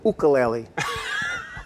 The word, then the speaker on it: ukulele: And every time I say ukulele, people, they correct me. They go ukulele. Ukulele, because the right pronunciation is ukulele.